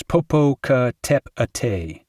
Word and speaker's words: Popocatépetl: And peyote goes peyote, and Popocatépetl, the volcano, goes Popocatépetl.